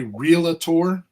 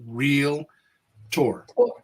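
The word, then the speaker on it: realtor: is no and and and when you say realator it's it's spelled r e a l t o r there is no a there is no a in there r e a l a t o r it's real tour can we say can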